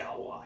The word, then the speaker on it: Galois: Do we have to pronounce it like that? Yeah. Galois extension.